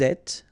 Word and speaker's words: êtes: Vous êtes, little liaison to between the two, and then final S not pronounced.